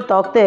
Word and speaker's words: Tauktae: वह कुछ अलग है तो इस नाम जो तौते उसमें एक्चुअली के साइलेंट होता है और इसका प्रेगनेंसी पेशंट